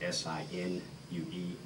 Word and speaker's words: Sinue: S-I-N-U-E is the first name, and that is pronounced Sinue.